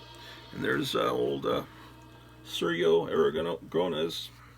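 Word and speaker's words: Sergio Aragonés: uh surya aragon gronas whereas i used to pronounce it sergio aragones until my wife was she's trying to get me to pronounce it right and she finally says oh i give up you're just gonna say it with an accent but at least it's better than what you used to say she says you gotta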